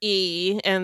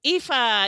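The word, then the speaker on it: Aoife: A O I F E. And the only reason I know is because EA.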